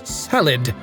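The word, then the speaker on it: Caelid: all your friends that the proper pronunciation is salid and let's band together and Stamp Out this kid Scourge where we still can and I think we can both band together and get rid of that K lead nonsense and however you pronounce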